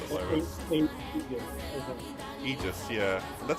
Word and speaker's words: Aegis: How do you pronounce it, Lobo? Aegis, yeah.